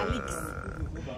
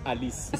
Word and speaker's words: Alix: Same pronunciation. Alix. It's not Alice. Alex is Alix.